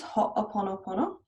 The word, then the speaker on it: Ho'oponopono: Some people really like, and I do use sometimes, Ho'oponopono, which I may not be pronouncing correctly, but it's the Hawaiian tool for healing and clearing and cleaning, as Dr.